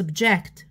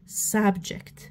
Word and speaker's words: subject: subject معناتها ماده دراسيه اللي هي noun، هذا اسم، اذا نحطها هنا subject، ما نقولش subject، نقول subject.